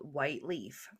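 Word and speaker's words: Whyte Leaf: in South Africa called White Leaf. And by the way, White is spelled like White Avenue is here, Whyte.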